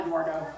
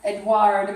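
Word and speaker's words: Édouard: His name was not Eduardo. Oh. That was a mistake. So I guess I can wipe that out. It's been like that for 20 years. But yeah, it's not Eduardo. He is French, not Spanish.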